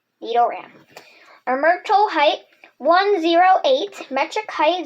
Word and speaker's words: Nidoran: How to say it? Ran. Nidoran.